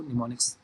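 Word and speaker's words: mnemonics: इसमें am silent है, इसको निमोनिक्स प्रोनाउंस करेंगे।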